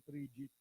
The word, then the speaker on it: frigate: Di ba itong sinasabi ni Presidente Duterte, magpapadala siya ng frigate. Yung mga barko de guerra, ang tawag nila frigate, di ba? Tinignan ko, hindi ganun ang pronunciation. Frigate eh.